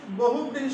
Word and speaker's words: বহুব্রীহি: পাঁচ নম্বর যদি বলি বহুব্রীহি সমাস, বানানটা খেয়াল করবে, দেখো বহুব্রীহি, ব হয় হচ্ছে